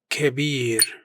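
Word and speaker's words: كبير: It's bab with equal stress on both syllables. Kabir means big, pronounced kabir.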